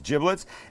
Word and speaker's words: giblets: the bag of giblets and that's how it's pronounced not giblets it's giblets and in here would be liver would be